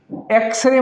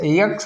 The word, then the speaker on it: X: हम ऐसे पढ़ रहे हैं ना, एक्स, यक्स मत बोलिएगा, ये यक्स नहीं है, जैसे कुछ लोग प्रोनाउंस करते हैं इसको यक्स, तो this is नॉट यक्स, this is एक्स, एक्स ए, ए वाला एक्स है, तो ये वावेल